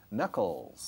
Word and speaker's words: knuckles: Con K delante, conucles, K muda. Knuckles.